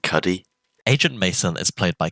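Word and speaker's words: Cudi: Cudy. Cody. C. I've been informed it's pronounced Cuddy.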